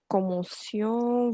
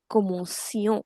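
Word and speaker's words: commencions: Because with I, C is always suh and not cuh. So the pronunciation is already see, common sion.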